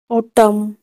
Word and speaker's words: autumn: N silent कब होता है? किसी भी वर्ड में M और N दोनों साथ में आए तो M और N में N साइलेंट होता है। इसका एग्जाम्पल जैसे ऑटम, AUTUMN, ऑटम, डैम, DAMN, डैम, दोनों साथ में हो तो हम N को उच्चारण नहीं करेंगे।